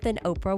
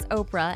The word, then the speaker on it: Oprah: as orpah gail winfrey with her first name spelled as orpah after the biblical figure in the book of ruth her name got mispronounced as oprah and from there it kind of stuck with her she was born in